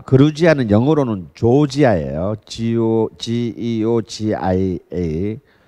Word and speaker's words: 그루지아: 그러니까 이미 이제 3,500년 경이 되면 여기에서 시작했던 와인이 아까 그 그루지아는 영어로는 조지아예요. Georgia. 그걸 조지아를 읽으면 촌놈이고요. 그거는 이제 트럼프나 조지아를 읽는 거고, 우리는 그루지아라고 읽어야 됩니다.